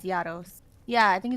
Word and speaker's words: Gyaros: It's Gyaros. It's Gyaros. Oh, it's Gyaros? Right? Okay. I think it's Gyaros.